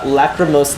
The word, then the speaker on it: lachrymose: So this is a really complicated word, but it just comes down to knowing that the k sound in this word is spelled with a ch.